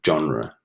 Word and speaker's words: genre: Okay, and then French words, okay, maybe if we have an E, instead of pronouncing it encore, like we would in English, we'd say encore, on, like an O, even encore, or genre.